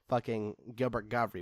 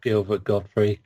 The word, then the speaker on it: Gilbert Gottfried: how Gilbert Godfrey was there but I'm gonna be a normal person and saying it has its proper pronunciation I love Gilbert Gottfried tourists clitoris like I